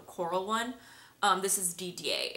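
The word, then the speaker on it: Didier: then I also got DDA which is spelled D i d i e r so you might other people might pronounce that deer but I'm pretty sure that's DDA in French it's so so pretty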